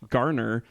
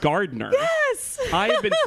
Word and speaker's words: Garner: her name was pronounced garner and not Gardner Jennifer Gardner No exclusively my entire life and I've no idea why because I looked at the name and I was like there's no D they're pronounced that way